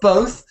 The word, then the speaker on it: both: the room please so the word with both we have to get the o sound the key word is phone oh no mobile phone both both not both